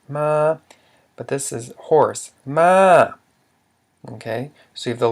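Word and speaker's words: ມ້າ: but this is horse, ma. Okay, so you have the low consonant plus a live syllable ah. However, it's a falling tone.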